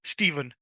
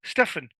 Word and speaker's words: Stefan: it's your name says Stefan said no that's how I pronounce that's how I write my name and my name is Steven and that actually in Welsh the letter F is the V yeah oh wow um